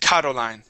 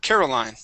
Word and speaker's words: Caroline: the word caroline um you had said karoline karo okay this is care caroline caroline yeah okay very good